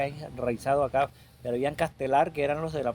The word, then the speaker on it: Castellar: Castelar lo pronuncian Castelar, pero se escribe Castellar.